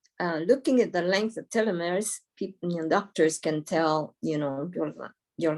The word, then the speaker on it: telomeres: It's spelled like telemeres, but it's pronounced telomeres.